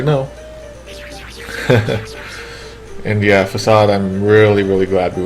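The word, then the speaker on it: Fassad: about that name because you pronounce it like the actual word facade but people didn't realize that's how you pronounce the word facade you know really yeah like they thought it was vacade oh i didn't know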